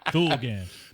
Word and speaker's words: Thulgant: Thulgant. Thulgant.